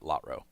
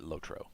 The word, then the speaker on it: LOTRO: at SSG told me I am the only person he knows who pronounces it lottrowe so having heard that from somebody who actually used to hear it all day every day excuse me um I've decided to uh curb that habit and try to Now Pronounce it lotro like everyone else not there about that